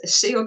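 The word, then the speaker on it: Céu: And it's Seo de Montreal. Seo means sky.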